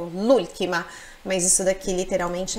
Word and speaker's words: l'ultima: volta ltima a última esse L seria o artigo Lula parece uma palavra só né o som é único Lula mas isso daqui literalmente